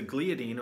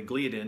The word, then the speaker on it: gliadin: And these two main proteins, glutenin and gliadin, out of both of those, the gliadin or the gliadin, depending on who you ask, people pronounce it differently, but there's glutenin and gliadin.